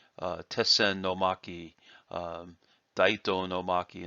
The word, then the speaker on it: Tessen: Now, it is okay to say Tetsu-sen. However, it is most common to contract those two words together with a double consonant between the two words.